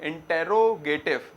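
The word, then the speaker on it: interrogative: फिर होता है इंट्रोगेटिव। स्पेलिंग तो क्या है? इंटेरोगेटिव, मगर प्रोनाउंसिएशन में इंट्रोगेटिव बोला जाता है ज्यादातर।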